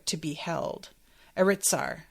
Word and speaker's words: Aritsar: I would trade all the wealth in Aristar to be held. Aritsar. Sorry, I keep saying it wrong.